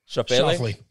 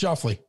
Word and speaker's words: Schauffele: Xander Schauffele. No, it's Schauffele.